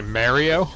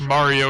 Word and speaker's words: Mario: If I hear someone say Mario, you know I'm gonna fucking throw hands with them. Fair play. This is directly subtweeting fucking Rush Frustic, you son of a bitch. It's Mario and you know it.